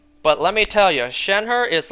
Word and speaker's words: Shenhe: I thought her name was pronounced Shenhe. Until I looked it up. No, it's Shenhe, but just without the R.